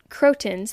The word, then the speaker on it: croton: to mention also that croons that's how you pronounce it I've been calling